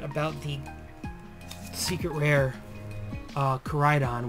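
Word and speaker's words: Koraidon: the secret rare uh Corydon which I now can pronounce it properly and I know you guys saw in the short or no in the early box opening I said coriadon or something I don't know I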